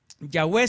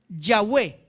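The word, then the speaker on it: Yahweh: V H impronunciables listo los masoretas le pusieron unas vocales para que se pronuncie la palabra yahwe pero cuando Cómo se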